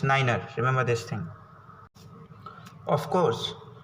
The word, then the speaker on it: niner: 9r and 100 year 9 is pronounced as niner remember this thing of